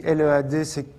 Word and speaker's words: lead: Par contre, si LEAD veut dire mener, on va dire lead.